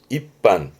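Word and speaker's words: 一般: 발음은 입반.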